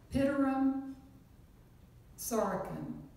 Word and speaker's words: Pitirim Sorokin: I will try to pronounce his name. He's was a Russian-born sociologist. Pitirim Sorokin.